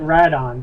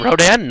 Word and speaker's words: Rodan: Just don't call it Radon. That bugs the out of me. Rodan?